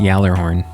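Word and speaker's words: Gjallarhorn: to use it more don't forget it's pronounced Yer horn I'm not lying that's actually how it's pronounced uh kept a great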